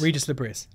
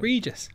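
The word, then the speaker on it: Régis Le Bris: think because he's Bron there's different pronunciations and the s's are to be pronounced so there Regis Reis liis Regis liis you say how you like but that's how we're going reges yeah nice great start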